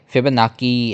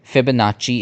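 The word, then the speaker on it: Fibonacci: फिबनाकी ऐसे नहीं स्पेलिंग है। फिबोनाची इज a pronunciation.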